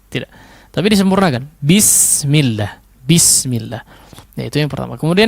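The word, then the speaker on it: بسم الله: Betul sekali lagi, betul-betul menjadi huruf i ya, atau kasrah. bi, jangan b. Ya, bismillah. Tidak. Tapi disempurnakan. Bismillah.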